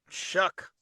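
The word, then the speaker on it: Shough: We learned after all of our debate about Tyler Shuck that it's Tyler Shuck. Shuck. Almost He Shuck. Sounds like he's sucks.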